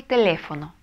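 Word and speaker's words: teléfono: Эль телефоно. Телефон. Эль телефоно. Угу. Ударение мы ставим на второй слог, потому что о это гласное, значит...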